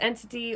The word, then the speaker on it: Entity: and it's entity Comics I know a lot of people have been pronouncing that wrong lately I wanted to point that out I've been hearing hearing people say eternity comics when it's entity or what's it I